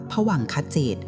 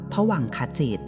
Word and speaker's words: ภวังคจิต: ใน ทาง พระ พุทธศาสนา ท่าน เรียก สภาวะ นี้ ว่า ภวังคจิต หรือ บาง ที ก็ ออก เสียง ว่า ภวังคจิต คำ ว่า ภวังค์ ถ้า